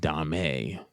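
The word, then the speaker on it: Domme: BDSM they are identities Dom and Dame which is spelled d-o-m-m-e they're the shorthand male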